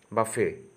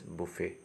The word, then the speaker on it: buffet: People normally pronounce the word as buffet. Okay, buffet, but the actual pronunciation is buffet.